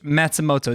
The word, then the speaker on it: Matsumoto: Coach Matsumoto.